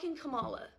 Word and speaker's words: Kamala: so yeah I'm voting for Kamala all right we're back on the same page it's pronounced Kamala though you know what endorsing someone if someone